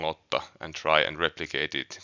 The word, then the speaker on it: Lotta: a fantasy universe, listen to how I am pronouncing Lotta and try and replicate it going forward.